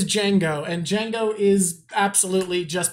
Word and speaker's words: Django: Is it pronounced Django? It is Django, and Django is absolutely just based off of Michael Jackson.